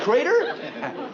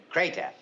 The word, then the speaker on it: Krata: Judge Crater? No, not that one. K-R-A-T-A, Krata. I should pronounce it Krata, but I enjoy seeing people's reactions when I say I'm Judge Crater.